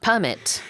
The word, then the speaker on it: permit: will you permit me to talk about the pronunciation of permit I will give you permission to talk about permit if we use it as a verb it's